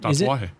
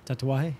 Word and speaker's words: Tatuaje: Tatuaje. Yeah. Tatuaje. I feel like It's easy just to say tattoo and aje really quick and just kind of let it flow. Tatuaje.